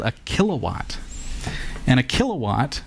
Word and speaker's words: Kill A Watt: this device called a kilowatt and a kilowatt it's spelled k i l kill D A- watt for Watts right Kill A Watt and this device uh